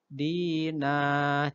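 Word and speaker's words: دِينًا: Tulisannya kan dinan, Islamadinan. Harusnya kan bacanya nan, karena fathatain. Tapi karena dia posisinya berada pada wakof, berhenti, maka tanwinnya diganti bacanya panjang atau mat. Bukan nan, tapi dinah, jadi 2 harokat.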